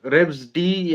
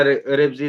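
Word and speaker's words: Revz: रेब्स डी या रेब्स जी जैसे आप प्रोनाउंस करो उसका आर इ वी जेड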